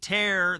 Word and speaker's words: Taer: Tear, the immigration reporter for the Daily Wire, find her on X at Sar.